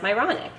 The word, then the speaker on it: Myronuk: I feel I'm a messenger of God in that, you know, from the original pronunciation, it's Ukrainian Czechoslovakian, so it has a different pronunciation, but it was always pronounced Myronic.